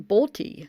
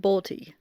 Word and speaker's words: Bolte: on inside edition and i guess they were pronouncing his name bolty so i guess it's trump bolty um but yeah trent balti so two of the